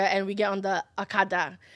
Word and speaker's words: okada: we get on the akada that's spelled o-g-a-d-a that is okada yes i'm sorry my english accent kind of like butcher it for you guys but don't come for